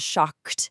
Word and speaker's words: shocked: If a present tense verb ends in a voiceless sound, like the hard K in shock, the past tense ed actually assimilates to match it. It adopts a voiceless t sound.